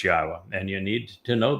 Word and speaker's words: Yahowah: U so be aware God's name is pronouncable. It is Yahwa. There is no B sound in the original Hebrew language.